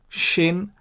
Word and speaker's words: shin: this letter shin it is not sin but shin remember shiboleth versus siboleth you pronounce shibolet if the dot is on the